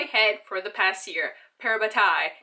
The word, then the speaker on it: parabatai: for the past year parabatai not para body parabatai I was right the whole time we had some